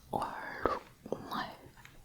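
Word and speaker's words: 얼룩말: Okay then we have ol-ruk-mal.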